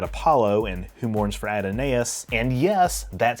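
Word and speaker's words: Adonais: the Greek guide Apollo and who Mourns for adonus and yes that's how it's pronounced and a giant space amoeba in the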